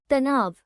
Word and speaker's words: तनाव: The Hindi word for stress is tanav.